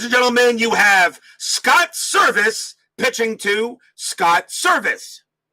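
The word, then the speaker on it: Servais: pitches to Scott service Scott service the pitcher his last name is spelled s r v i c the batter Scott service his last name is spelled s rvis s and they are spelled the they they are sounded exactly the same and yep Scott bullet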